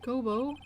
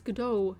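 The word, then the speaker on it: Godot: It's not Gobo. It's GDO, your honor.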